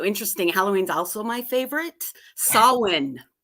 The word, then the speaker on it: Samhain: Samhain, you know. Yes, yes, That's that's a Celtic pronunciation.